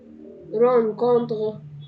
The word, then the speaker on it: rencontre: une رون او غن، يعني حرف الار ساعات بيتنطق ار وساعات بيتنطق غ، فبقول رون او غن. كونتغ، رون كونتغ، رون كونتغ.